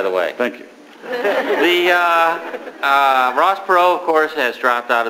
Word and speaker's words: Perot: race, proving again that if you have a silent T in your last name, you cannot become president. Paul Tsongas. Silent T does not work.